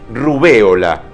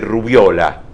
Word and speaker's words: rubéola: El nombre de una de las más difundidas enfermedades eruptivas es esdrújula, rubéola, y no debe decirse rubiola.